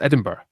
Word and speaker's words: Edinburgh: that's spelled the wrong it's spelled the wrong way of how it sounds and you know what